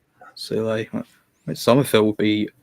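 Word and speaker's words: Soulé: I mean, it's most likely being that it's going to be that Juventus player, Sol, how we pronounce it. Sule.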